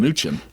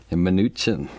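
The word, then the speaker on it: Mnuchin: treasury secretary Steven minuchin I learned how to pronounce it this way minuchin minuchin so um did you get a chance to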